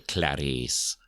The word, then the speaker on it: Clarice: parents named her because her name's not spelled like Clarisse it's not like it's hilarious like this way but you still have to say Clarice oh every time she's